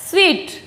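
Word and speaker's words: suite: सूट बोला जाता है, ज़्यादातर हम सूट ही बोलते हैं इसको, लेकिन इसको सूट नहीं बोलते, इसको बोला जाता है स्वीट। अब आप कहेंगे कि इसमें वा का साउंड, तो वा तो है ही नहीं, तो वा का साउंड कहाँ से आया? लेकिन इसका प्रोनाउंसिएशन स्वीट ही होता है, ना कि सूट होता है।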